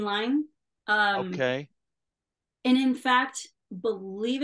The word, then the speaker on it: Lyne: working for it was Adrian Lynn or Adrian Lyme. I've heard it's pronounced both ways. Yeah, I've always said Adrian Lyne.